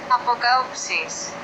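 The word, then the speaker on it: ἀποκάλυψις: Apokausis. Apokausis. All right, that's how you say revelation in Greek.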